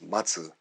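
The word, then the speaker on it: 松: to put pine tree pine tree pronounced as Matsu they're waiting is also Matsu or mats is the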